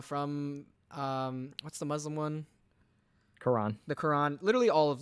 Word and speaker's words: Quran: that Quran yeah okay kourin is that how you say Corran Quran is its Quran you're saying it right but that's how it's